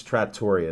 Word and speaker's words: Trattoria: No, it's Trattoria is the proper pronunciation, I found out. That's but, the Yinzer pronunciation. Yeah, So we're pronouncing it like Pittsburghers and not... Yeah, and proper way is different.